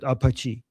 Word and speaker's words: Apache: how I say apachi, I'm saying it how we say it in Iran, okay? We call it apachi. So apachi, whatever whatever you guys say, I pronounce it the way I it was pronounced in Iraq.